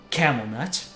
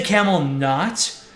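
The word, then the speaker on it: Kam'lanaut: yeah camel nut literally people were asking how to pronounce this man's name and it's literally camel nut you can say camel nut just so that you uh don't make people giggle but I think it's literally camel net you play through suful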